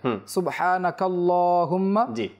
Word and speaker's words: সুবহানাকা আল্লাহুম্মা: পড়ি কোন সমস্যা নাই যদি কেউ মিলিয়ে পড়ে সুবহানাকা আল্লাহুম্মা তাহলে সে কাফ এবং লামকে একসাথে মিলিয়ে নিবে এখানে হামজাটা উচ্চারণ হবে না অনেকে এরকম পড়ে যে সুবহানাকা আল্লাহুম্মা যখন সে একসাথে পড়বে তখন হামজাটাকে পড়বে না সুবহানাকা আল্লাহুম্মা আর যদি